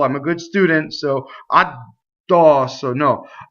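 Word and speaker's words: addosso: So addɔsso. No. Addɔsso, right? So the D never stops the phonation, right? It's just doubling.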